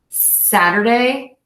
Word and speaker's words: Saturday: So we have the longest vowel is the longest beat is going to be in the sad, Saturday, Saturday, Saturday, Saturday. And that little short syllable in the middle is our shortest one.